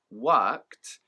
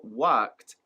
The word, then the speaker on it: worked: Native speakers will pronounce the past tense verb worked as just one syllable.